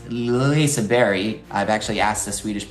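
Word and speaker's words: Liseberg: Uh it's pronounced Lisa Berry. I've actually asked a Swedish person to give me actually Lisa but it said Lisa Berry because it's like French like you just touch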